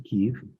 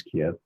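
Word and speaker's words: Kyiv: things and then went back to Kev, which most people pronounce Kiev, and had some time and I thought, let's see if I can get to Chernobyl.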